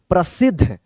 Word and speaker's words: प्रसिद्ध: प्रसिद्ध। इसको द मत पढ़िएगा। प्रसिद्ध ध उच्चारण होता है। पूरा ध होता है उच्चारण।